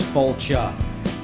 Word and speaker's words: Failte: It's pronounced Failte, F-A-I-L-T-E.